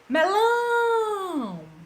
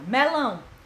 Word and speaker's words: melão: Melão. Melão. A tia demorou mais em qual? No lão. Então, ela é oxítona, porque a sílaba tônica dela é a última.